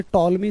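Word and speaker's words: Ptolemy: तो ये टॉलमी साहब ने बताई। ठीक है, पी इसमें साइलेंट है।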